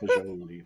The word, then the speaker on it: fagioli: I'm a big fan of fagioli. What'd you call me? Careful, please be careful. Isn't that? It's fagioli. Is it? Yes, it's pronounced fagioli.